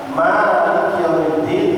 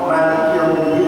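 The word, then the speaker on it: مالك يوم الدين: Maliki Yaumiddin sama Maliki Yaumiddin dua-duanya benar. Memang turun dua kali. Jadi boleh baca panjangnya juga panjangnya, cuma satu alif. Maliki Yaumiddin dengan Maliki Yaumiddin.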